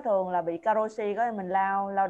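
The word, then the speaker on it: 過労死: Nên ở bên Nhật nó có cái cụm từ caro này cộng thêm chữ tử nữa, đọc là karoshi.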